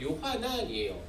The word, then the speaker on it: 요하난: 요한은요 히브리식 표현으로는요 요하난이에요. 영어로는 존이라고 되어 있죠. 근데 이 발음이 라틴어나 헬라어, 그리스어나 요하니오스라고 하는 라틴어는 원래는 그리스어에서 왔어요.